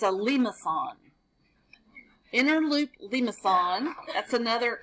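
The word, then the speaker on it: limaçon: The pronunciations are up here. It's a limacon.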